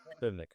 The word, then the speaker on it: Krapivnik: we're bringing in Krapivnik. My apologies if I'm not pronouncing your name correctly. He's a Russian-born military. Is that correct? Close, close. Krapivnik. Krapivnik. Well, if you're into the Russian process, Krapivnik.